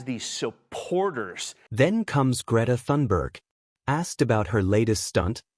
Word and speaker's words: Thunberg: Doesn't Greta Thunberg sound... Am I pronouncing it right? Yeah, you are Thunberg.